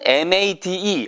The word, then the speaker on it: made: 그런데 MAD는 화난이란 발음일 경우에는 mad죠. 영화 매드맥스도 있고 그런데 made라고 할 때에는 made.